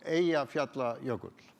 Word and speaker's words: Eyjafjallajökull: Eyjafjallajökull.